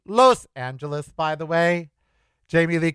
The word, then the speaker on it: Los Angeles: It is Los Angeles or Los Angeles. It is not Los. It is not laws. It's Los, like toast. Los.